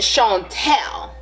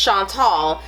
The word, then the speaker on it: Chantal: Is it Chantal or is it Chantel? And I was like, it's Chantal.